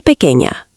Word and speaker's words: pequeña: Somos una familia pequeña. Pequeña means small. Pronunciation tip. The ñ sounds like ña.